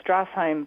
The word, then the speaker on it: Strashheim: Her name is Strashheim. And, did we get that last name pronounced correctly? Yeah, pretty close, Greg. It's Strashheim, but that's okay.